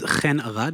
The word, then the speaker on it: Chen: thank you very much my name is kenad it's confusing it's spelled Chen I'm from Israel we have those odd sounds in our language uh but you can call me Chen it's totally fine I'm the co I'm